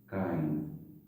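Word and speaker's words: -yne: Word याद करो, ANE को केन पढ़ते हैं, हिंदी में ऐसे बोलते हैं केन। ENE को पढ़ते हैं कीन, और इसे पढ़ते हैं काइन, ऐसे प्रोनाउंसिएट करते हैं।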